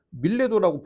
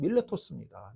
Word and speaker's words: 밀레토스: 밀레도라고 표현돼 있어요. 근데 원래 영어식인 발음은 밀레토스입니다.